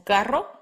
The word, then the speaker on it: carro: R, the R trill, as in carro, and R, the R tap, as in caro.